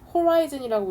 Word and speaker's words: horizon: 명사일 때랑 형용사일 때랑 발음이 달라질 때 수평선, 지평선 할 때는 horizon이라고 읽고 이렇게 tal이 붙어서 형용사가 되면은 horizontal 이렇게 됩니다.